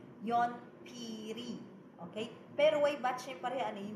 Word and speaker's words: 연필이: That's why you're going to say yonpiri. Okay? Pero way batchim parehan, we are going to pronounce it as yonpil.